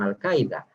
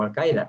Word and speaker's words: Al-Qaeda: Afganistán se convierta de nuevo en un santuario para terroristas, ya lo fue con Al-Qaeda, o Al-Qaeda, se puede pronunciar de dos formas.